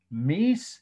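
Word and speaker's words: Mies van der Rohe: capital r-o-h-e for short architects just call him meese like he was a god okay he was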